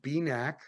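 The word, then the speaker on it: BENAQ: possible Vision restoring agent is called b-neck that's spelled b-e-n-a-q and um and beanak is favorable because it's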